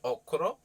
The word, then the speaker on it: okra: around this vegetable called okra now it's spelled okra and i've heard many people say okra but i was brought up on okuro so okra it's a really ancient